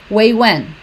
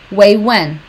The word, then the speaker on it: wait, when: Ela fala way when. Way when. Way when. Tá? Não tem esses T's aqui. Não tá errado pronunciar, mas vai soar mais natural se você não falar os T's. Way when.